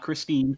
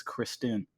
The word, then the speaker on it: Christine: But I was researching him, and there was an actual pronunciation of his name, and it was Kristen.